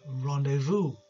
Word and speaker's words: rendezvous: you need to queue up from there。Next one，哇！呢、這個字咧就好多時我哋都會用到啦，喺英國，但係咧係比較難少少嘅發音嘅。Rendezvous, 我哋唔读嘅 S 音嘅。Rendezvous 嘅意思咧，即系话一个安排同人约面见面，倾倾谈谈嗰个安排会面咧，就叫做 rendezvous。Okay? Very useful，点用法啦？She will dress up。For their rendezvous, she will dress up for their rendezvous.